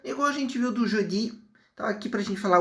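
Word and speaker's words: jeudi: Bom, aqui por algum motivo ele não conseguiu pegar a minha voz do Jodi, da cor, mas a pronúncia aqui é Judi, tá certinho?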